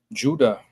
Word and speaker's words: Judah: what how should that how should that be pronounced? Judah with a J sound.